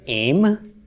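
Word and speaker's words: אם: feminine noun olive final mem with its era under the olive pronounced aim okay this means mother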